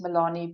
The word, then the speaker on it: Melanie: and surname which is Milani I'll spell it for you now. so m e l a n i e like Melanie but it's the Africans version obviously and then my surname